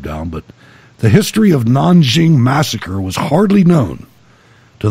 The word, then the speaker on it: Nanjing: One of the things that sets the rape of Nanking, or the rape of Nanjing, as the Chinese pronounce it, apart is the brutality that they suffered under Japanese occupation and invasion.